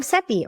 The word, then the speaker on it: Seppi: And I'm Seppi, rhymes with Peppy, your host.